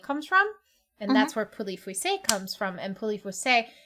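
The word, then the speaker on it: Pouilly-Fuissé: The other one I got you is a poulet fuissé, which is how you say it.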